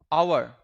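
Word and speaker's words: hour: एन आवर। हावर बोलते हैं क्या हम लोग? नहीं ना? 1 घंटा को एन आवर बोला जाता है। एट्स यहां पे क्या प्रोनाउंस नहीं हो रहा है।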